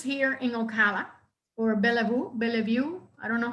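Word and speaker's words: Belleview: wants to purchase here in ocala or bellavu bella view i don't know how that's pronounced i'm sorry bellevue thank you and there is a home that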